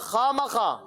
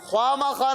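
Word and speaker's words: خواہ مخواہ: बाद वाव आता है, ख्वा के बाद वाव आता है और अलिफ आता है, तो वाव साइलेंस हो जाता है, साइलेंट हो जाता है। जैसे नॉलेज में के साइलेंट है ना, इस तरह जैसे कि नात ख्वा, नात खा, ख्वा नहीं कहेंगे, ख्वा गलत है, नात खा। इसी तरह खामा खा क्या होता है? खामा खा, ख्वामा खा नहीं होगा, ठीक है।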